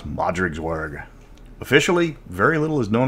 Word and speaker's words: Modrigswerg: mr welch and today we're learning how to pronounce modric's worg officially very little is known about the rot